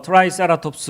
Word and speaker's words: Triceratops: 요게 트리케라톱스. 영어 발음은 뭐 트라이세라톱스 뭐 이러죠.